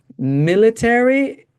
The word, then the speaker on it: military: Military is different, right? Can But I? you said it correctly. You said military. The middle syllable is this sound, right? Military.